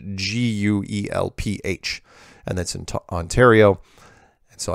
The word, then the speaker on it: Guelph: heard of it's spelled gue lph and that's in Ontario so I'd like to officially say it's pronounced Guelph of course why don't they just put a W in there be easier but you know what